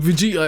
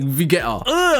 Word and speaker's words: Vegeta: a way like where instead of saying Vegeta it would say Vetta like what is what was that like algorithmic tick?